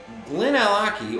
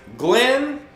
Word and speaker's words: Glenallachie: So Glenallachie or Glenallachie, what are we saying it is?